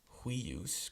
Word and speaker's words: huius: But for 5 words in Latin, we pronounce it together. These are huius, quius, huic, qui, and hui. So we do that more kind of like our W sound in English.